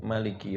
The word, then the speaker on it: Maliki: Jadi kayak misalkan dicontohkan, dalam surat Al-Fatihah, Maliki Yaumiddin, ma-nya dipanjangkan ya, dimatkan kalau itu bacaan Imam Asim, tapi imam yang lainnya itu dibaca pendek, Maliki Yaumiddin.